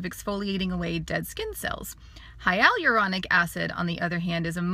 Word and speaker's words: hyaluronic: Hyal, so like the guy Al, hyaluronic. So it's just like that, hyaluronic.